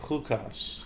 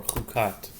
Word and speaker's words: Chukas: our weekly paral of hukas or kukat depending on pronunciation huat is um the